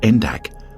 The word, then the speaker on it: NDAC: diving and Activity Center popularly known by his acronym and pronounced endak opened in the former